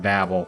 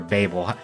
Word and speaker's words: Babel: a parallel to the Tower of Babel or Babel. I hear people use either pronunciation interchangeably.